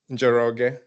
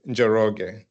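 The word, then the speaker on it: Njoroge: Jerro. The N is silent, so it's Yeah. So Jerro.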